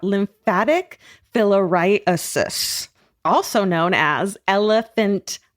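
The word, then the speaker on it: elephantiasis: It's elephantis, which causes part of the body become grossly enlarged due to a lymphatic blockage. We've been pronouncing Elephant Titus incorrectly for hundreds of years.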